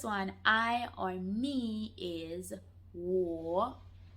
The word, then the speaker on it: 我: I'm just going to try and give you the best pronunciation as possible. All right? So the first one, I or me, is 我.